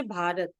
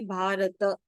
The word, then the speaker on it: भारत: So generally, how do we pronounce this in Hindi? We will say Bharat. But in Sanskrit, you have to say Bharata.